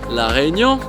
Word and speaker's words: La Réunion: So before this trip, I haven't really heard much about La Réunion. See, I can't even pronounce it correctly. John, please help me out with this one. La Réunion?